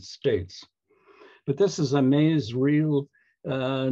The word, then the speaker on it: Masereel: would wordless novelists or woodcut novelists are franz mezriel i checked that online the pronunciation and lindward and our own george walker here in canada linda ward was from the united states but this is a maze real uh not not from a um wordless novel